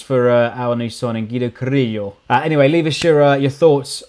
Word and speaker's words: Carrillo: Looks like we've finally got Guido Carrillo across the line. Notice the rolling of the R's there.